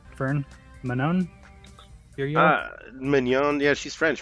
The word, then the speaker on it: Manon: Manon? Mignon. Yeah, she's French, right? Manon.